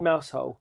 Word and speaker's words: Mousehole: Mousehole. But Mousehole. Mousehole. For all and of we drove past Cornish Mousehole.